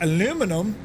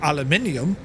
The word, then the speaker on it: aluminium: built from 2024 T3 aluminum or aluminium yes that's how it's pronounced um uh with the